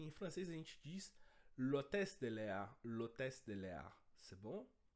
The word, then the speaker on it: l'hôtesse de l'air: um pouquinho da pronúncia, a gente usa o L com apóstrofo justamente porque o H, nesse caso, tem um som mudo, ele é mudo. Então, para fonética, a gente considera que a palavra começa com O, pelo menos em termos fonéticos.